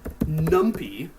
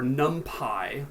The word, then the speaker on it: NumPy: You're going to want to say from numpy, or numpy, it's pronounced both ways, import splat.